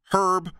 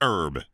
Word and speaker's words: herb: in the word herb herb are you serious it's herb it's french drop the h clowns no but birdman